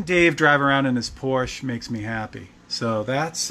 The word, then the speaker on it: Porsche: I just learned that I've been saying it wrong all along. I thought Porsche was just a rich girl's name. But apparently that's the way that they want you to say the name of the company, so.